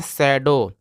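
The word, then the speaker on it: shadow: से हो गया और डीओ डब्लू को डो पढ़ते हैं यानी कि यहां पे डब्लू साइलेंट रहेगा तो इसको पढ़ते हैं शैडो और शैडो का मतलब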